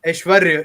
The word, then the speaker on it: Aishwarya: Aishwarya is usually the pronunciation.